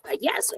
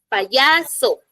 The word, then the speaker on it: payaso: ejemplo use la palabra payaso les decía no payaso Yo no digo pa yaso O sí caso no aplica